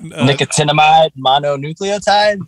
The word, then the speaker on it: nicotinamide mononucleotide: Nicotinamide mononucleotide?